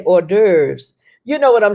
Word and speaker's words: hors d'oeuvres: So he was looking around for hours de vie, and he realized she was trying to say hors d'oeuvres.